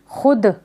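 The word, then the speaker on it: خود: खुद, खुद में क्या है? वाव साइलेंट है, हम खे को दाल से मिलाकर पढ़ेंगे।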